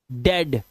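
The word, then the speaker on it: dead: आगे देखिए, कुछ वर्ड्स में ई ए का उच्चारण ए ही होता है, जैसे डेड। अब इसको आप वो नहीं पढ़ेंगे जो अभी पढ़ रहे थे आप, ठीक है।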